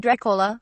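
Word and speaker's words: droch fhola: word Dracula comes from the Irish draught Olaf pronounced Dracula meaning bad blood eight ballina guardhouse polymeric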